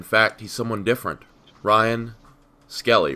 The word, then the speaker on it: Skellie: Ryan Skellie, right? Am I pronouncing that right? Yes, sir. Skellie.